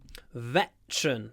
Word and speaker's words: veteran: of the Vietnam War veteran veteran two syllables veteran veteran veteran veteran hold